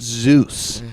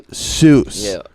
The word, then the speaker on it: Seuss: how I pronounce it I have not Zeus but soos otherwise known as Sousa